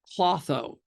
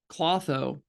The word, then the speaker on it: Klotho: this is just fascinating um it's called uh clotho it's spelled k l t h clotho and it's